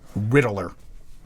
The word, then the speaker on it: Riddler: No, I looked it up. It is 3 syllables, according to Google. Riddler.